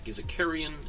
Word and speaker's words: Carillon: Deborah says, do not pronounce the L's. Carillon is Carillon is how we say it here.